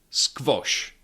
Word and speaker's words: squash: This one is usually pronounced in Czechv like in squash. Squash or queen. Queen.